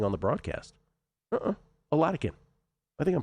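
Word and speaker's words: Oladokun: Oh, he was saying they were saying it Oladike. Well, that's not correct, Ronnie Roach. That's how they were saying it. It's Oladikin like Vatican, as you were saying off air.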